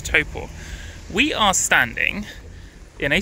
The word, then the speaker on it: Taupo: site that is Lake taupo good morning from Topo which is how it's pronounced I kept calling it taupo but I'm told it's taupo we are standing in a super volcano let